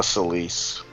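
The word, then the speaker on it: Celes: weapon for Tera or is it celus is that how you're supposed to say her name it's uh celis I for some reason I always found myself saying celis which I know it doesn't look right but I don't know it's just what I went to yeah it does well it does look kind of Greek so that would be uh that would be like a Greek sounding pronunciation yeah that's true Hermes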